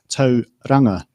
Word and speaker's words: Tauranga: So in this case, the correct pronunciation is Tauranga, and Tauranga is halfway there.